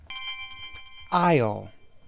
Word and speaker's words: aisle: Aisle. Aisle. A-I-S-L-E. Aisle. That S is silent.